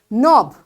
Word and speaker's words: knob: Knob the handle. Anything which you move. Knob. This K is silent.